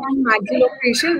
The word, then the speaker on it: maxillofacial: She has graduated from BVP Pune and has a diploma in oral and maxito. Is it right? Maxillo. Maxillofacial reconstructive surgery.